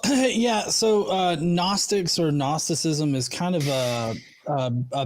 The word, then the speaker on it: gnosticism: you a small correction it's not gnosticism it's just gnosticism the g is silent but as somebody famous